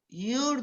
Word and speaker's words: your: Tiene que pronunciar bien la R, porque si no está diciendo la palabra tú como sujeto.